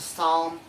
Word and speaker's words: psalm: The letter P, it only has one rule, that is, letter P is not pronounced at the end of the beginning of many words using the combination of PS, PT, and PN.